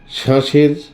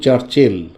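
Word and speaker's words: Cherchell: যায় মস্ক এই যে শ্বাসের সিপোর্ট এখানে প্রচুর ফিশিং বোর্ড লিখছি কিন্তু চারচেল আর উচ্চারণ করছি শ্বাসে একটু উঁচু থেকে আমরা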